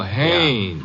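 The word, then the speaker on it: Haines: Oh, Haynes. Yeah, do you know him? Well, there's a fella named Hines used to fish out here. No, not Hines. Haynes.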